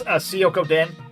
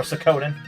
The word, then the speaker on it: Suikoden: This is Suikoden, or Suikoden. Depends how you want to pronounce it.